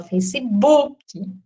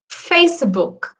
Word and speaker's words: Facebook: Primeiro que a gente pronuncia esse K como um QI, né? Um que, e não um k. Porque, em tese, a pronúncia é Facebook. Tá vendo? É um casinho, assim, bem... E a tônica é o fá. O fê, no caso, né?